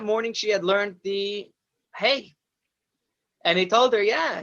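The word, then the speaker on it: ה: And next we have Hey, the fifth letter, hey. The hey is like a breathy sound, like a h, almost like the letter H in Hebrew, the hey, h.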